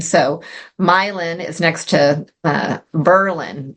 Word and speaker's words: Milan: War I it was patriotic to change the pronunciation so milin is next to uh Berlin which used to